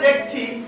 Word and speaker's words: the: যখন ভাওয়েল দিয়ে কোনো শব্দ, কোনো ওয়ার্ড শুরু হয়, তখনই আমরা উচ্চারণ করব দি।